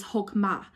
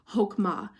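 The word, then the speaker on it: חכמה: the word for wisdom in the Hebrew is hokum ah and that doesn't isn't spelled like you think but its per map pronounced hokhmah and the definition of this is an action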